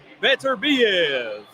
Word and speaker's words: Beterbiev: Or Beterbiev. That's the correct pronunciation. Shout out to Thomas Schreiber, man, who told me that. Beterbiev.